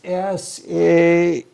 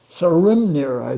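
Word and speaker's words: Sæhrímnir: But the name of the boar is Sehrimnir. Sarimnir is the closest I can come to the pronunciation. I've heard it pronounced Scrimnir, but that is probably some kind of making it easy or something like that.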